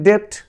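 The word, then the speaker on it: debt: আর এখানে ডেট না হয়ে হয়েছে, যেহেতু বির উচ্চারণ হয়নি এখানে টির পূর্বে, ডেট, ডেট।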